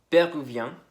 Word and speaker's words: péruvien: En masculino termina un poco como si fuera una A, péruvien, y el femenino sí, más suena como una E, como está escrito ahí, péruvienne.